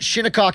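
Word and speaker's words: Shinnecock: That's at Shinikok Hills. That's how you pronounce that golf course.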